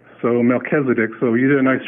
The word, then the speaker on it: Melchizedek: to pronounce words like Melchizedek now it looks like it's Melchisedec but it's not because it's not English it's a Hebrew word so that CH is pronounced like a K so Melchizedek so you did a